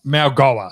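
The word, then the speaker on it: Mauigoa: It's pronounced Malgoa.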